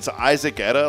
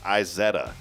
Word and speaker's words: Izetta: It's Isaac Etta. Like you spell it like Isaac Etta, but it was pronounced Izetta.